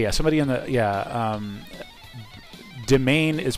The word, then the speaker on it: Demain: Yeah, Demain is pronounced... Demain. Is, I don't know if it's Demain or Demain, as in the French pronunciation. But yeah. Merriam-Webster says it can either be Demain or Demean.